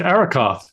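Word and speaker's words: Arrokoth: And then after Pluto, uh, you went to Araoth, if I'm pronouncing that properly.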